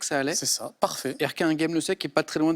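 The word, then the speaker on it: Erquinghem-le-Sec: très fier de ma prononciation d'Erquin Game le Sec, ça allait. C'est ça, parfait. Erquin Game le Sec, qui est pas très loin d'Erquin Game le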